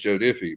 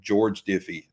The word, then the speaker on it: Joe Diffie: His name's Joe Diffie, but the whole video, for some reason, either I was thinking George Jones or something. I called him George Diffie the whole time.